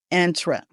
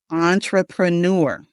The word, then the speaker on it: entrepreneur: a French word and the beginning of the word is on instead of in. We don't want to say enter. Entra. We want to say entrepreneur. Entrepreneur. We got the the emphasis on the first syllable and the last syllable.